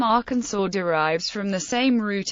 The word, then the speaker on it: Arkansas: south wind in 1881 the pronunciation of Arkansas with the final s being silent was made official by an act of